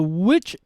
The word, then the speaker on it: which: Which is a for the first 2 letters WH, you will not pronounce the sound, so you will just do the mouth shape, and then the sound you will hear is when I pronounce the sound which the sound the vowel. So which you cannot hear, you will not hear w.